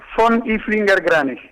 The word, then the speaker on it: von Ilfinger-Granach: En realidad es von Ilfinger-Granach.